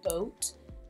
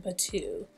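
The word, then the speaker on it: bateau: Bae but two neckline I've heard people call it a boat but it is pronounced by two neckline super super cute I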